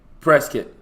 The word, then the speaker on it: Prescott: How do you Is it Prescott or how do you how do you pronounce this? Prescuit. Prescuit. Okay. So, it's Prescuit.